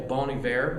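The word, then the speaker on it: Bon Iver: but like for example bonnie bear is how you say it ballin ivor balling bear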